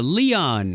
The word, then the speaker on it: Leon: Christina and Kyle Nishioka, Leon. It rhymes with neon.